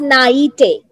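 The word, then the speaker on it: naive: ई और this is actually A सो it's pronounce S नाइटे सो व्ट य think व्ट्स the meaning of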